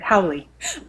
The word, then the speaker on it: Howley: on it's dr howley and i think i actually just said your last name wrong you said it right howly i did yeah um